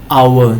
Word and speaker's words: hour: or you don't the the h is silent you don't make a sound of it right you don't say how you say our hour same as our our